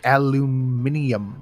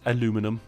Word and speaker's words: aluminum: But you say aluminum. Yeah, you say aluminium. Okay, now I'll give you that. That is because, that is, the correct way is aluminum.